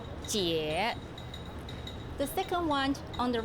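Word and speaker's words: 姐: The right hand side of the character give you the sound, pronounce jie.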